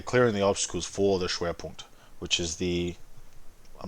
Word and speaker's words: Schwerpunkt: Schwerpunkt?